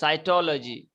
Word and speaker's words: cytology: is it called cytology yes cytology like biology yes biology cytology so in cytology you